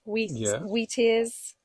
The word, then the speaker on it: wheatear: So we've also warblers, wheat ears, Wheatears.